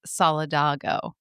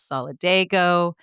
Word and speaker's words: Solidago: be pronounced which is solidgo. May a culpa Jenny it will never ever happen again. Jenny surmised that it was because of Spanish pronunciation.